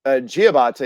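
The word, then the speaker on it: Diabaté: And then Musa, it's pronounced Giabate, even though it's spelled Diabate, the 6'11" kid out of the Florida IMG Academy down there.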